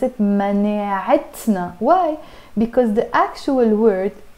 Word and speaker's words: مناعتنا: No, I have to pronounce the T marbuta. And I say مناعتنا.